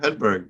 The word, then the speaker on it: Hedberg: have uh Eric augerson Alex Olson and Joshua Hedberg with us today thanks for joining us guys hopefully I pronounced your names right there ah you got